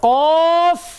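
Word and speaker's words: ق: লাস্টে ফটা বলে দিবেন ফ ঠিক আছে্যা তাহলে কফ ওই যে আমি বলেছিলাম আরবিতে ফা উচ্চারণ মানেই উপরের দাত নিচে ঠোট স্মরণ আছে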